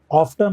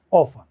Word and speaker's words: often: ऑफ्टन और ऑफन दो अलग अलग साउंड है, ठीक है ना। इसको ऑफ्टन भी कहा जाता है और ऑफन, अर्थ भी सेम है अक्सर, लेकिन अलग अलग उच्चारण है। कुछ लोग इसको ऑफ्टन कहते हैं, वो भी ठीक है, कुछ लोग इसको ऑफन